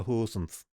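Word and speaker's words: Goossens: He wanted people to pronounce his name properly, and I was literally the only kid who could pronounce Peter Hoosens. But then everyone was just like Peter Goosens.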